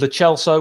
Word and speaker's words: Lo Celso: Same as I did for Tottenham game with Lo Celso, which is the correct way of pronouncing his name.